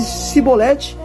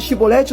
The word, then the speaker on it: Chibolete: consegui falar então então se ele falasse sibolete no lugar de chibolete os homens agarravam e